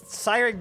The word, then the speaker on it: Cyric: Siri, she starts with a C, and it's also Siri. I mean, it's Cyric, though, looks like Kyric. It sounds better to pronounce it as Kyric. But it is Cyric, stop it.